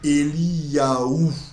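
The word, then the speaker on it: אליהו: Parce que tout ce qui est les grands prophètes, par exemple Élie en hébreu se dit Eliyahu.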